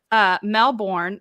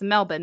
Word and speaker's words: Melbourne: Francie was teaching us that it's not Melbourne, it's Melbourne. Yep. Melbourne.